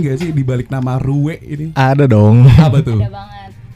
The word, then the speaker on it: rue: Kalau di Prancis harusnya kan bacanya kan ru kan kayak ya elah ribet banget.